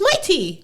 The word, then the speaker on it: Mitie: Is it Mighty? It's Mighty. What's Mighty?